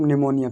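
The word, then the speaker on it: pneumonia: यदि एन एस से पहले पी आ जाए तो पी कैसा रहता है, साइलेंट रहता है। जैसे यहाँ पर एग्जाम्पल हमने लिख दिया है, आप एग्जाम्पल लिख सकते हो अपनी कॉपी में कि PNEMUMONIA, मतलब कि इसको पढ़ेंगे सिर्फ निमोनिया, पी से स्टार्ट नहीं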